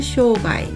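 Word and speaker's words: 障害: 조행이라고 한 점 주의하시고요 마늘장도 쇼라고 읽어서 장애를 쇼가이 쇼가이라고 했습니다 다음 시간에는 317강에서 319강까지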